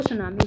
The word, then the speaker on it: tsunami: आपको सुनामी की spelling learn करनी है TSUNAMI। बच्चों इसमें टी साइलेंट होता है।